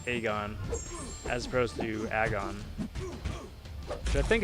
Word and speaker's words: Aegon: Aegon. I like how the community just came together and decided his name was to be pronounced Aegon as opposed to Agon.